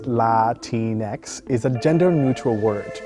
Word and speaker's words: Latinx: Latinx, pronounced Latinx, is a gender-neutral word to describe people of Latin American descent.